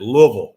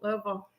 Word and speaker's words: Louisville: And that's how you say it, Louisville. Louisville.